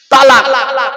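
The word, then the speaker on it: طلاق: বসে আছি চিন্তা নেই তালাক কি বলে শব্দটা কিন্তু তালাক নয় শিখে যান আজকে শব্দটা তালাক নয় শব্দটা হলো কি তলাক কি বললাম তলাক চলুন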